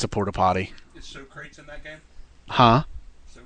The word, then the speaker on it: Socrates: Is So Crates in that game? Huh? So Crates? From Bill and Ted. I don't He's remember. making fun of it because his name isn't pronounced so great. Socrates. Oh. Socrates.